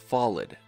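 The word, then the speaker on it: Fauld: order of the solid though spelled f-a-u-l-d is pronounced solid like f-a-l-l-e-d this could be a reference to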